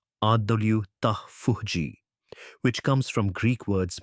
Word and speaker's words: autophagy: This process is called autophagy pronounced adulji which comes from Greek words meaning self-eing.